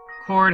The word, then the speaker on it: chord: Chord has a silent H.